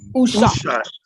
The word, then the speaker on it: Ushat: Ushat. Ushat. Like as if you were saying who shot, but you're saying Ushat.